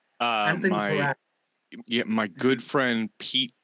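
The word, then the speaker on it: Peratt: Remember the work of Anthony, I believe his last name is spelled, or rather is pronounced Perat, but I could be wrong. Anthony Perat.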